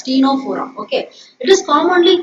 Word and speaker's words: Ctenophora: Here also C is silent, so you have to pronounce this as Ctenophora.